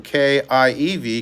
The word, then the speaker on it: Kiev: changed the spelling from k-i-e-v kiev which was the russian name and pronunciation to kyv which is